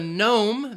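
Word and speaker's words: gnome: the K in night the there are two silent letters in rendezvous the Z and the S rendezvous with the Nome the genome and then the T in Castle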